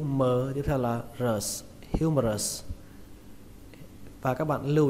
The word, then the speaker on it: humerus: Từ vựng này các bạn đọc là humerus. Trọng âm của từ này rơi vào âm đầu tiên, âm hiu. Âm hưu trong từ điều hưu trong tiếng Việt, bạn lấy âm hưu đó ra.